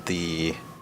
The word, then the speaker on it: ye: the back alley and that ye is actually pronounced as the all right that was